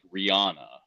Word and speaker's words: Rihanna: Shakira you know like Rihanna like like the middle syllable is always the stressed syllable in those types of names and so it's interesting